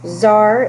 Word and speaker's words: tsar: on uh the presentation zar this is how you pronounce that word you pronounce it you don't pronounce the t so it's tsar nicholas ii takes control of the country in 1894.